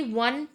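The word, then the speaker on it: one: ओ बट जो इसका sound आ रहा है ना वन का वो डब्ल्यू वाला आ रहा है।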